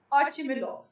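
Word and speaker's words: Ochumelov: देखो बेटे एक रशियन नेम है ਤਾਂ pronunciation ਕੁਝ ਹੋਰ ਵੀ ਹੋ ਸਕਦੀ ਹੈ ਰਸ਼ੀਅਨ ਦੇ ਵਿੱਚ but I'm going to pronounce it as Archimilov ਤੇ ਉਹ ਮਾਰਕੀਟ ਚੌਂਕ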